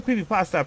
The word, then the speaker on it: creepypasta: So, the term creepypasta, pronounced like noodle, is a pun off